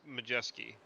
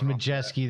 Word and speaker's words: Majeski: Uh I don't think there's a W in there. But it's Majeski. That's how they say it on the broadcast. No, it's Majeski.